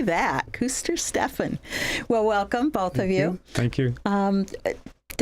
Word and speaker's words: Kuestersteffen: It's Kuestersteffen. Kuestersteffen. Good German name. I can say that. Kuestersteffen.